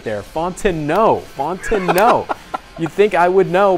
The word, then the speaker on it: Fontenot: Gavin Fontenot looking for Nathaniel Wilkinson. He's got him, and I've got his name wrong again. I thought I had it right there. Fontenot.